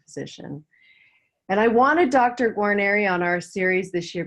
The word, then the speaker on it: Guarneri: Guarneri, am I pronouncing that right? Dr. Guarneri, right? Guarneri, right.